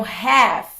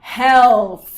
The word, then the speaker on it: half: Você não me viu falar health, ok? Half. Half. Então, a gente não vai pronunciar o L.